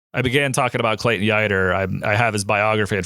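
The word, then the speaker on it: Yeutter: I began talking about Clayton Yer. I have his biography in front of me that's going to be my my summer reading. And it's Clayton Yer rhymes with fighter.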